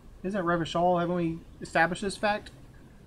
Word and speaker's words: Revachol: Oh, I've been tempted, but someone has to stay strong for Rivercall. Are you sure that's even how you pronounce the town? Rivercall, you said? Isn't Revachol?